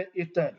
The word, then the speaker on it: عطر: کو پڑھائے گئے ہیں، جیسا کہ لفظ عطر بتایا گیا ہے تو عموماً ہم عطر کہہ دیتے ہیں، عطر لفظ نہیں ہے، لفظ ہے عطر۔ تو بیٹا آپ نے